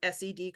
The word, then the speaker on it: SED: The one you want is over here where it says SED code. Okay, said rhymes with bed.